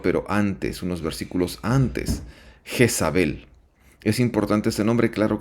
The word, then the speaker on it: Jezabel: ahí tenemos en hebreo el nombre de Jezabel que se pronuncia como Isabel Isabel que tendría el siguiente